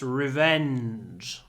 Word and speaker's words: revenge: his revenge so Revenge try to have a nice long n in this word Revenge Revenge we stay on the N Revenge Revenge like that Revenge Revenge number seven